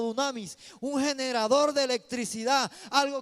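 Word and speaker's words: δύναμις: La palabra poder en el griego se pronuncia como dunamis, un generador de electricidad, algo que iba a generar poder.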